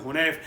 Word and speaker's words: حنیف: تھے, جناب عثمان ابن حنیف, ہمارے یہاں حنیف بولتے ہیں ورنہ عرب میں تلفظ حنیف ہے.